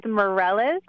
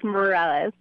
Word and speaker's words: Mirelez: Can you please tell me the correct pronunciation? Did I say it right? Mirelez? Yes, actually you did. It is Mirelez. Most of the time I actually get Mirelez, but you did say it correct. It's Mirelez.